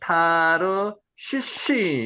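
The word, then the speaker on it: תרשיש: 달시스를 원어 그대로 읽으면요. 한번 읽어 보세요. 타르시.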